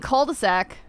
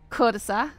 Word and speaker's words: cul-de-sac: The L is silent in cul-de-sac. Not in the USA. Cul-de-sac.